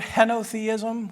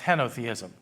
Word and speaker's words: henotheism: There's another word, henotheism, which might be more appropriate. Henotheism is spelled H-E-N-O, theism, henotheism.